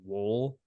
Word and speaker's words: Woll: I should add that now it seems like his name has changed actually to wool which I think is like the proper pronunciation it's always been the proper pronunciation but we've just all called him wall I think I'm just going to continue to call him Joseph wall me too sorry man